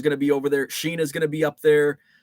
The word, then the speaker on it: Shiina: Sheena is male. And it's spelled Shiina.